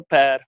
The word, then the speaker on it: Per: Yeah, or Per. Per also works.